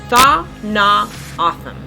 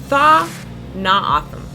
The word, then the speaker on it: Tohono O'odham: One of the first things April wanted us to learn was proper pronunciation. Tohono O'odham. Tohono O'odham. Tohono O'odham.